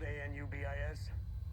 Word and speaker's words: Anubis: Anubis. Anubis. Spell A N U B I S. Uh-huh. It's pronounced Anubis.